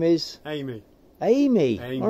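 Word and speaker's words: Aimee: Amy. Amy. Amy. All right. And it's, he's going? A-I-M-E-E. It's spelled A-I-M-E-E.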